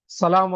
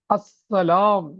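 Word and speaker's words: السلام: ஆரம்பத்தில் எஸ் உடைய சத்தத்தோடு சீனுடைய சத்தத்தோடு ஸலாமு அலைக்கும் வரஹ்மத்துல்லாஹ் ஸலாமு அலைக்கும் என்று சொல்வார்கள். ஆனால் இது லஹன் தவறாக பார்க்கப்படுகிறது. அஸ்ஸலாம் என்று அந்த ஹம்ஸாவை தெளிவாக சொல்ல வேண்டும்.அ என்பதை தெளிவாக உச்சரிக்க வேண்டும்.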